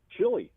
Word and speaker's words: chili: Chili. Hey! Nice job. Right as the buzzer was going. Nice job. I know it's pronounced like Chile, but that's fine.